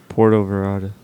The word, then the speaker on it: Puerto Vallarta: So we're going to Puerto Vallarta. Puerto Vallarta. Puerto Vallarta. Say it right, son of a bitch. Puerto Vallarta.